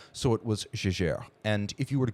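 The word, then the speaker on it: Jaeger: So his name was German but he considered himself French. So it was Jajer.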